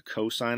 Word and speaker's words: cosine: It's not cos x, it's called pronounced the cosine of x. We write it like this, but we say it like this.